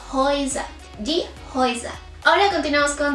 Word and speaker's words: Häuser: Lo mismo sucede cuando tenemos una EU, o sea, una A con umlaut y una U. También lo pronunciamos como una O y una I. Es por esto que aquí decimos Häuser.